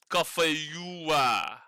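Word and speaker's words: cà phê dừa: Cafeua. And you say it like that, cafeua.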